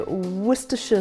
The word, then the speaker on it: Worcestershire: was to sauce properly I think you guys say Worcestershire sauce but if you go to Britain which is where worcester is that is exactly what's called Worcester sauce although it's spelt Worcestershire and and we're going to